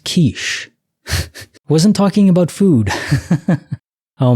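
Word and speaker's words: quiche: break we could have a quickie um it's pronounced kich wasn't talking about food oh my that's a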